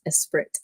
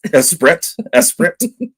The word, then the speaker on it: Esprit: It's pronounced Esprit. Esprit.